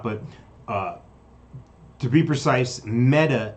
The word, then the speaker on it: Meta: uh to be precise metta is pronounced like the feminine form of a hebrew word which is dead it means dead so okay i don't